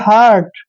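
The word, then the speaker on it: hurt: अब यहां पर देखिए एच यू आर टी इसमें यू के बाद आर आया है तो यू का उच्चारण ए करेंगे ध्यान रखना है इस बात का इसको पढ़ेंगे हार्ट हार्ट हार्ट मतलब चोट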